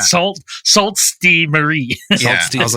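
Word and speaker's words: Sault Ste. Marie: of that like yeah if you're French it's suain Marie but if you're English it's salt Marie I mean Dan wouldn't be the first American to be like it's salt stay Marie is that is that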